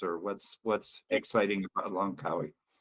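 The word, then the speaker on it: Langkawi: Sister Kate, uh, here is a state in Malaysia called Lancawi Po. Say that again. How do you say it? Lancawi po. L A N G K A Wii. Lancawi.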